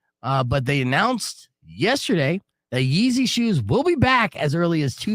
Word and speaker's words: Ye: how do you pronounce it, Rico? Yee.